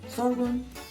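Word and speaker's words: sorghum: the dir sty my husband grew up on sorum am I saying it right yeah sorum so we have the light and the dark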